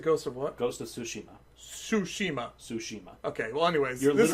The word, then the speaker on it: Tsushima: Anyway, but seriously, how do you pronounce it? Ghost of what? Ghost of Tsushima.